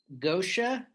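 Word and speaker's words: Goetia: then the next track i'm gonna pronounce it gosha it's a g-o-e-t-i-a um you wanna i'll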